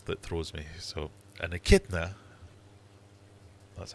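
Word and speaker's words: echidna: So an akidna, that's how you pronounce it, is an example of a monotrim just like a badger, b fox, c platypus, or d raccoon.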